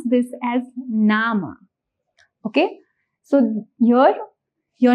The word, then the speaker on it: Name: name if you see the spelling does look similar to what we have in English but the pronunciation here is going to be different in Doge we pronounce this as nama okay so your your